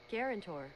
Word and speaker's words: guarantor: once again g a r a n Tor pronunciation guarantor yeah guarantor weird ass word